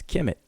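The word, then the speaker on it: Kemet: of glyphs which is transliterated as KMT which we pronounce as Kim it and then he says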